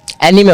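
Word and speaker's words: anime: एनीमे होता है, ऐसे तो उसका जो मेन प्रोनाउंसिएशन है उसका एनीमे ही होता है, पर अनाइम बोलते हैं।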